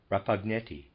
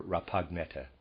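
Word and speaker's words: Rapagnetta: life his name was rapagneti excuse me neta peter's aside spelled r a p a g n e t t a i'm not sure if that g is silent or pineata or rappagnetta and the readers aside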